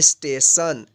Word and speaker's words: station: तो इसलिए इस टी का उच्चारण जो हुआ है यहाँ पे तालव्य श उच्चारण हुआ है। तो आइए हम आगे देखते हैं। STATION, इसको पढ़ेंगे स्टेशन।